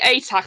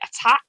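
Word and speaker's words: Atack: down-to-earth so next emily attack i really am i always want to pronounce it attack but i'm like it's only one t oh yeah so i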